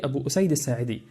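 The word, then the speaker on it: أبو أسيد الساعدي: Until I discovered that ''Aba Sidu'' is the companion Abu Usayd Al-Saadi, but Sherif Jaber mispronounced it as you heard it.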